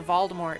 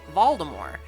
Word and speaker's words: Voldemort: McGonagall are referring to Voldemort as Voldemort. And when my sister first heard that, she said, why are they pronouncing his name different? I said, well, that's how J.K. Rowling pronounces it.